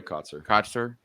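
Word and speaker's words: Kotsur: Troy Kotzer.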